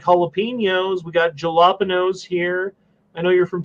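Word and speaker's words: jalapeño: We got jalapenos here. I know you're from Texas and you don't like to enunciate things that are silent letters like J and jalapenos.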